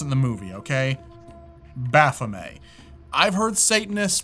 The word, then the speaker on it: Baphomet: that's how they pronounce in the movie okay Baphomet I've heard satanists pronounce it buffomet or Baphomet but I'm gonna go with how